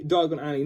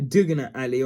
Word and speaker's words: Diagon Alley: do this and then you say diagon alley not uh what was it a digging alley or how he mispronounced it but there you